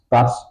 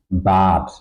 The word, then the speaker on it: Bad: For example, this word has to be pronounced bad. It's just one syllable. The vowel is within the syllable but it's not pronounced but. Okay. But would be following the rule that's not the correct pronunciation.